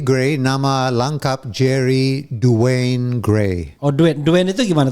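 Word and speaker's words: Duane: Itu gimana kalau pronunciation yang benarnya itu? Itu Jerry D. Grey, nama lengkap Jerry Dwayne Gray.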